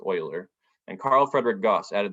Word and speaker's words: Euler: It looks like it's pronounced Euler, but it's actually pronounced Euler.